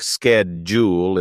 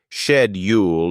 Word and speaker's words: schedule: to in British English similarly schedule may sound like skjul in the US but shed Ule in the UK both pronunciations are correct